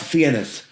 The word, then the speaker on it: Fiennes: I know it looks like FIENESS, and they're calling him Ray Fiennes, and that's not how it's spelled. Yeah, so that's Ralph Fiennes. Yes. So Ray Fiennes is RAYFINES. Rafe is kind of like the posh way of saying Ralph.